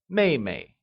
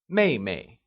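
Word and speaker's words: 妹妹: younger sister translates as maymay it is pronounced using the falling tone let's try and say Meimei good let's see another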